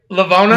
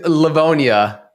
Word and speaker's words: Livonia: baby he's here baby did i pronounce right lavona yeah michigan it's livonia is that it's all